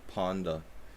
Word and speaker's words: panda: a chest panda because the pronunciation of panda in Hungarian is actually it sounds like it literally sounds like that so it sounds like pon de we don't say panda in Hungarian they say panda you know so I